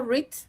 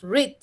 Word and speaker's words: read: Algunos verbos, como el verbo read, no cambian, pero ¿sabes qué cambia? Su pronunciación. Aquí va a cambiar bastante la pronunciación. En presente tú dices read, en pasado tú dices read.